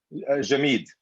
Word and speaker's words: jameed: that she used and samad how do you pronounce the dried yogurt version jameed that's for the immense exactly which we have